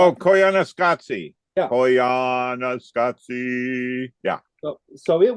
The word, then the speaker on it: Koyaanisqatsi: So I cannot pronounce this. It's that sort of head movie, Koyaska Squad. Oh, Koyaanisqatsi.